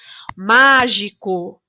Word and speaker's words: mágico: Mágico. Na palavra mágico, a sílaba tônica é o má.